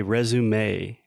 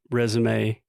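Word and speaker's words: résumé: that come from French all words that are originally derived from French in English we tend to add the a sound at the end so we recorded an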